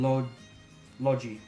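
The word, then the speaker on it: Logy: That's right, it's Eska and Logi, right. That's how it's meant to be pronounced.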